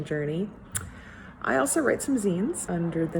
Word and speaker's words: zine: the 4th it says it's going to be pronounced zine z-e-e-n zinfare and i think